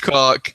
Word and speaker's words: caulk: It's pronounced cock, but it's spelled CAULK.